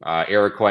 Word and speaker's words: Iroquois: So there's like 2 scientists in like the whole country that do Iroquois mycorrhizal.